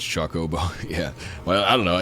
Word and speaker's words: Chocobo: I like chocolate, so it's Chocobo. Yeah. Well, I don't know. Yeah, I've always pronounced it like chocolate.